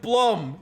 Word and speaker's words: Blum: It's pronounced Stev Blum with the M sounding like the M in seaman.